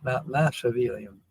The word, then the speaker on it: Machiavellian: The ch is pronounced as chick, like the ch is pronounced as chick, like Machiavellian, not Machiavelli, not Machiavellian. Okay, Machiavellian.